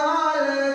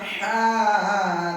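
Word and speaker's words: حاء: হা উচ্চারণ করতে হবে লম্বা হা উচ্চারণে গলার মধ্যে শোষ করে শব্দ হবে লম্বা হা উচ্চারণে গলার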